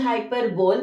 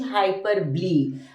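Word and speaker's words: hyperbole: it as hyper ble the spelling is hyper bow but pronunciation is hyper ble I need 100 hands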